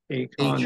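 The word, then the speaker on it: Achane: Devon, I think it's Akon, is how you say it.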